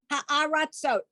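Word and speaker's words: הארצות: What's the vowel after the tsa? Oh, ratsot. It's an O. Ratsot. Yes. Ha'aratzot.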